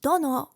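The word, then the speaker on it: 殿: Tono, pronounced dono when attached to a name, also roughly means lord or master.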